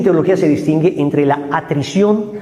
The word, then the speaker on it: atrición: existe la contrición ojo no se dice contricción ni atric aunque parece uno disléxico se dice contrición y atrición la atrición Me convierto